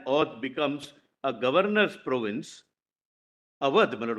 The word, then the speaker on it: Awadh: becomes a governor's province, Awadh, my lord, why should we say Audh, my lord? The Britishers were unable to pronounce, therefore they used to say Audh.